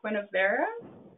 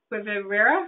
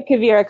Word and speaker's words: Quivira: Quinavera? Let's see. Oh, she's not. Now she's unmuted. How do you pronounce that? Quivira? That's the Quivira Coalition.